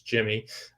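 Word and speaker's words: Yimmi: so that's exciting um because for so long asking yemi but it's jimmy um but yeah jordan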